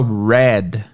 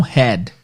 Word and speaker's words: red: Não head. Head é cabeça. E restaurant não existe, tá? E sempre que você vira o H no inglês, você tem que pronunciar o R. R de rato.